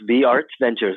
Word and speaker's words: VRt Ventures: And VRt Ventures, did I say it right? Yes, VRt Ventures.